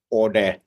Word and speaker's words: Ode: Actually, the Ode, it's pronounced Ode in Finland, and it's the nickname of this producer guy, the fourth member.